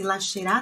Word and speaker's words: lascerà: Mas a pronúncia aqui desse SCE é esse che.